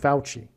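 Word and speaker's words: Fauci: His name actually u f au ci which rhymes with vespuchcci by the way. Oh, that's amazing. Vespuchi rhymes with Fouchi.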